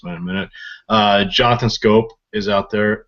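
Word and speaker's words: Schoop: a minute uh Jonathan scope is out there it looks like it should be pronounced shup but it's really scope uh he's bat an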